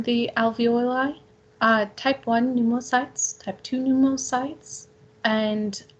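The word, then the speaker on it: pneumocytes: alveoli I type one new more sites type two new sites and alveolar macrophages just remember four new mo sites uh it's like pneumonia the P is silent because this is a Greek word and so what we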